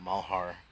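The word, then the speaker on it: Malheur: santilli guy that was out there covering the malhar that's how you pronounce it doc malhar um incident up in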